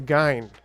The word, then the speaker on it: Gyne: the is it soft is it a soft G it's a hard G so it's a gy wow okay well that